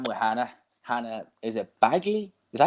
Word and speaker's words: Baggaley: Hannah, is it Baggaley? Is that how you pronounce it's the Baggaley. Last name? Baggaley. Baggaley.